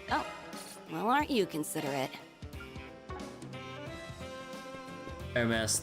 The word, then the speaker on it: Hermes: Hermes, the H is silent.